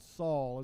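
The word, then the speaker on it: Faol: I guess it's called Saul is that how you pronounce that ciao ciao like like the word s-h-a-l-l but it's spelled yeah okay f-a-o-l but pronounced Irish so we had to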